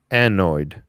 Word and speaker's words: anode: Davis did, said anoid, just like it looks.